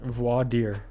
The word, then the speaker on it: Voir Dire: Glaucoma 2 versus how do you pronounce it? Voir dire. Voir dire.